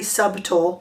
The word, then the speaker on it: subtle: emphasize it by uh enunciating the silent B in subtle so this is a very subtle palette we're going to